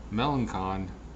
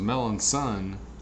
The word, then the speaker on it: Melancon: now the other night I was calling the melon king Melancon now I was told his melon son whatever his name is